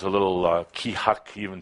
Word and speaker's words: KEA-HAK: It is pronounced kihak. Kihak. That sound fun? You can say it. Kihak. Yeah. Kind of like saying shit.